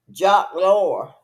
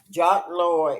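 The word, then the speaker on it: Loeb: fertilty see and that's how I think now jock lore jock lore is his name is spelled uh j a q u s l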